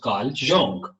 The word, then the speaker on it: Carl Jung: कार्ल जंग ये एक साइकोलॉजिस्ट था, साइकोलॉजी पे जिसका बहुत काम है, कार्ल, it's pronounced Carl Jung.